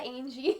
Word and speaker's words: Angie: I said Angie. That rhymes with mangy.